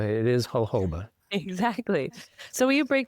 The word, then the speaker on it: jojoba: hoba cam for vitamin E and is it hoba is that how we pronounce it yes that is how you pronounce this never fully knew yeah yeah it's not jojoba it is hoba exactly so will you break down a little